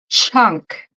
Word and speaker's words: chunk: same sound yeah um so we have junk you repeat J oh you could keep the strong J like J junk sorry j yep like in yeah and then chunk so it's like mucha cha cha chunk CH cha chunk yeah it's the same CH good so junk chunk junk chunk yes junk Chun